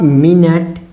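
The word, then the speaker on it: minute: अगर इसे आप माइन्यूट, माइन्यूट उच्चारण किए तो इसका हिंदी ये होगा। अगर इसको आप मिनट, मिनट या मिनट बोले तो क्या हो जाएगा, यानी यानी घंटा का, ठीक है ना, घंटा का 60वां अंश।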